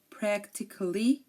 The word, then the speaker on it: practically: pronounce the letter A but if a word ends in i c a l l y uh most people don't pronounce it um here are some